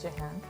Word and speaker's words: Jehan: Can you pronounce it for us? Yes, Jan.